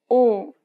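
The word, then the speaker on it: 오: The next vowel is O. think of the O sound in orange. Round the lips as if you're surprised.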